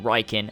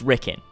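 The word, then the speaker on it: Rikkin: once and for all is it riken or ricken he replied with oh my God time to put some colleagues under the bus so my friends at UB Motion Pictures didn't know about the pronunciation a they just read the name and kept saying riken and contaminate the whole movie stuff that way for real it's ricken so he's admitting here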